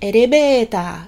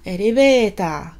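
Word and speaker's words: エレベーター: Je vais le prononcer un peu à la japonaise, elevator. Et du coup, en japonais, le OR du coup devient A. Donc allons-y, elevator, elevator.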